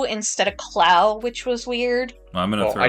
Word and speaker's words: Clow: That, and they said Clo instead of Clow, which was weird.